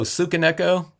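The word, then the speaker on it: Tsukineko: You try to just kind of you kind of say the tss, you know, thing. I mean, if you just kind of pronounce made the T silent, that would be fine too.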